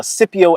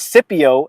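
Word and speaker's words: Scipio: was uh Cypio Africanis, the great Roman general who defeated Hannibala and completely destroyed them uh during the Punic Wars.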